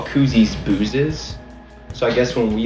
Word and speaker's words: Booz: go people are like is that how you pronounce that booze i'm like yeah that's how you pronounce it